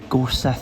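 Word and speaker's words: Gorsedh: I think it, like I said, I think it's pronounced Gors cuz the DH is a th.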